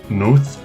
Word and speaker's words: Nótt: And the double T was, expressly pronounced as a TH.